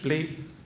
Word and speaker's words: blé: And as most of you hopefully know, BLE, the three letters, if you pronounce it in French, blé, it means wheat.